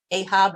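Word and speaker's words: אחאב: The English script is going to be written the way you pronounce them in English: Achav, Elijah, Naboth, and I will be saying Achav, Eliyahu, and Naboth.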